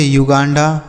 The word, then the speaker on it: Uganda: UGANDA तो इसे पढ़ेंगे युगांडा, क्या पढ़ेंगे, युगांडा, क्लियर हो गया।